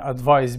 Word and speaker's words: advice: خلي بالنا ان advice بالسي ناون وتنطق advice، لكن advise بالاس verb وتنطق advise بالزد. اوكي.